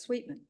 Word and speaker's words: Sweetman: It's spelled Sweet, Sweatman, but it's Sweetman.